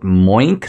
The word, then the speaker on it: Moink: and I'd like to tell you about Moink.